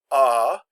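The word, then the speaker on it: à: no accent on it this is pronounced ah and generally it means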